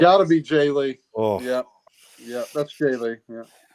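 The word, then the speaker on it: Jae Lee: got to be Jay Lee.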